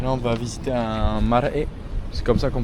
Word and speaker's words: marae: Bon, on a fini la visite du monoil et là on va visiter un maré. C'est comme ça qu'on prononce.